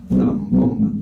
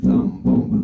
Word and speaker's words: zambomba: Zambomba, zambomba, zambomba, zambomba, zambomba. Hay una particularidad con el acento 2, que es el ba, zambomba. El acento ba es un rebote natural de la sílaba bon, zambomba, zambomba, zambomba.